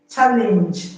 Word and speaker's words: challenge: Challenge has NG, but the G in challenge is pronounced J, not G.